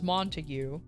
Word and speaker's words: Montague: Like so I assumed that it was gonna be pronounced like his name was like I'll make up the first name, Henry Montague. But then when he came in and he checked in, he's like, "Oh, Montag?"